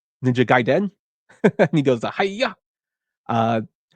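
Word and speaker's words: Ninja Gaiden: on the NES uh I found out how to pronounce it through the 1989 film The Wizard which is ninja gaen and he goes hiya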